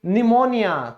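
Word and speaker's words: pneumonia: जैसे निमोनिया, तो पी के बाद क्या है, एन है, तो हमारा पी साइलेंट होगा, निमोनिया।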